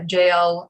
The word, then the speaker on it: Jael: story um i yeah i tend to pronounce j's with a with a y sound a lot of people